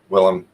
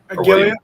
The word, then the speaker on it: Willem: The G is a W for sure. Willem. Gilliam? Okay, yeah. Yeah, it's not a G.